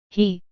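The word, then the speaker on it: 呵: He, pronounced like her with a yawn, which is associated with the heart.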